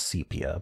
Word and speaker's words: sepia: But I do think the proper pronunciation is sepia. But anyway, I can't stop myself from saying sepia because that's what it looks like. Why would that be a long E sound?